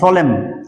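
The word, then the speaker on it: solemn: এস এনই এম এন সলেম সলেম মানে গাম্ভীর্য সলেম এন উচ্চারণ হয় না কনডেম এটাতে এন উচ্চারণ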